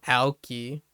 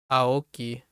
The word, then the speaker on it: Aoki: Rio uh Rio I I like how he pronounced it he said rio Alki see that's what I mean by uh you can definitely tell American speaker instead of like Aoki but yeah uh that's